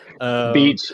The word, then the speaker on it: BEEACH: I don't know what's the right way to pronounce it. Beach is good, Can but you explain a little I bit might go like what's biatch.